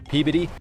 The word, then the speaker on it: Peabody: Pee-biddy.